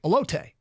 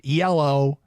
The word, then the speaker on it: Elodie: Now, the first thing I look at that and I think elote, like the corn. It's Elodie, isn't it?